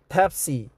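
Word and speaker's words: Tap30: Tap 30, pronounced Tapsi, just like a taxi, is another application similar to Uber and Snap.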